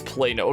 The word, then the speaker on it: Plano: But yeah, and that's pronounced as Plano.